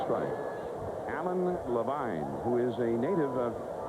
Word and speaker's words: Levine: His name is spelled Levine, but he pronounces it Levine.